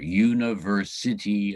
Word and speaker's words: University: University Alliance, with the penultimate syllable in university spelled with a C, not an S.